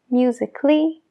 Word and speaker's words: musically: musical music en fin no se pronuncia la a en el sufijo a l l gega siempre cuando haya un consonante antes en este caso consonante es la c logically musically basically y practically eso